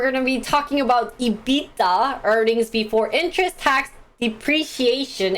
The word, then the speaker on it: EBITDA: tax depreciation and amortization so evita or edita my old finance finance professor used to say ebitda ebitda ebitda it's like how koreans